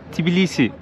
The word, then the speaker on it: Tbilisi: Çünkü Gürcüce'de Tiflis Tbilisi olarak okunuyor. Tibili de ılık demekmiş.